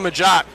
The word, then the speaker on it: Majok: Number 2, Christo Majok. Christo, I believe it's pronounced Majoke. I asked him at halftime.